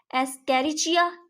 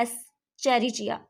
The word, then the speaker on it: Escherichia: और दूसरा पॉइंट हमारे पास है एस्केरिचिया या एस्चेरिचिया, जिस तरह आपको इजी लगे उसी तरह प्रोनाउंस कर सकते हैं आप।